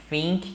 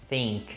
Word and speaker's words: think: Eu sei que pode parecer estranho, mas não é think que fala com esse som de F, é think. Coloca a língua no meio do dente e seja feliz.